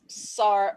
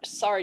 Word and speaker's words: sari: that we know it's Saur Saur D sorry is the pronounce no there's no D sound we call it retroflex where your tongue gets rounded I can't even grow